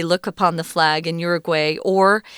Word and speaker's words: Uruguay: So, this sun god smiles upon the people as they look upon the flag in Uruguay or if you want to say the Spanish pronunciation is Uruguay. So, it's very different.